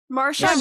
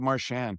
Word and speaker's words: Marchand: Yeah, I think I have Marchand. Sometimes I'll do it SHAND. I think I go with Brad Marchand.